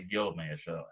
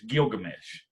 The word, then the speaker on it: Gilgamesh: All right, and I'm pronouncing it right here, but I don't pronounce it right on I would say Gilgamesh half the time, but it's Gilgamesh.